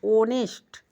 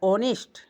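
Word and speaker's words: honest: यहां पर ऑनेस्ट में एच हमारा वोवेल नहीं है। लेकिन इसका साउंड क्या आ रहा है? ऑनेस्ट वोवेल जैसा आ रहा है। अब यही कह रहा है कि आपको साउंड याद करना है। इसका उच्चारण क्या होता है? हमें साउंड से मतलब है। तो हमारा साउंड और आ रहा है यानी वोवेल आ रहा है। ऑनेस्ट इसलिए हम एन लगा दिए।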